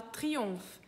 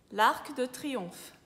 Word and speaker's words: Triomphe: A gente tem a palavra triomphe. Em triomphe tem o PH, que em francês fica som de F, então Triomphe, l'Arc de Triomphe.